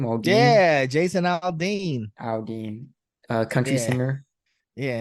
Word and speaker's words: Aldean: yeah, Jason Aldean.